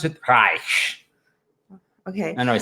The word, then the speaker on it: Reich: The Germans pronounce it Reich.